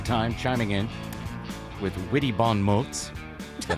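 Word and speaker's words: bon mots: You'll hear her voice from time to time chiming in with Witty Bon Moes.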